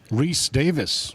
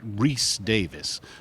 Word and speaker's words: Rhys-Davies: Con this weekend, John Rhys-Davies. Did I get it right? Rhys-Davies. I was close. Did I get it right? You did.